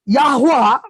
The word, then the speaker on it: Yahweh: So the pronunciation is Yahweh, but when we say Yehovah, है ना, लेकिन